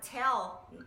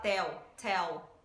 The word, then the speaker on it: tell: Então, a palavra tell, a gente tem que pronunciar o L no final dela, tá? Então, a gente pode falar tell, com L mesmo, tem que pronunciar o L no final. E a outra palavra vem dessa segunda parte.